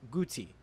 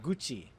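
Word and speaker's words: 같이: For example, this word should be pronounced guti, but it is pronounced gucci.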